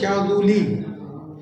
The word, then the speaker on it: شاذلی: اصل میں تو تلفظ شاذولی لال پر پیش ہے، شاذولی، لیکن ہم لوگ اردو میں اس کو بگاڑ لیا ہم نے، شاذلی شاذلی بولتے ہیں، لیکن اصل ہے شاذولی۔ کیا وجہ ہے اس